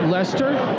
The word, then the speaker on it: Leicester: Because I've never pronounced Leicester correctly until today. So thanks, Rob. You helped me out there. You're going to tell me you pronounced it Leicester?